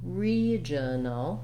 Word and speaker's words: regional: on that syllable so in a word like regional re the first syllable with the letters re is stressed and it has the clear vowel e so we see that